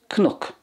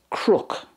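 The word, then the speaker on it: cnoc: Next we have the Irish for a hill, which is Cnook, Cnook. That's the way it's pronounced in Munster. And in the other 2 dialects it's Crook, Crook.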